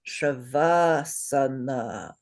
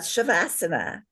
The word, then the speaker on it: Shavasana: So that one is pronounced Shavasana. Say Shavasana. Good. Shavasana. Not Shavasana.